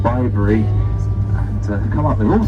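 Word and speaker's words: Bibury: But if you remember bye-bye Bibery, it should help you out there.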